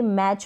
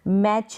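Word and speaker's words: match: रहा है या टी आई एन साथ में ए रहा है तो वहां पर टी जो है साइलेंट रहेगा कैसे जैसे ये मैच पढ़ा जा रहा है कैच पढ़ा जा रहा है टिक का उच्चारण नहीं हो रहा च को च पढ़ रहे हैं लेकिन टी प्रोनाउंस हो रहा है नहीं मैच है कैच है ऑफेन तो ये ऑप्शन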